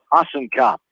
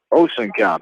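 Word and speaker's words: Ossenkop: that is SB noel awesome cop awesome cop is a sophomore Osen cop there we go with the correct pronunciation but it find a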